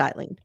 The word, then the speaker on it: Aileen: It's funny because it's spelled Ailene and I know two people named Ailen who spell it that way, but it's pronounced Eileen.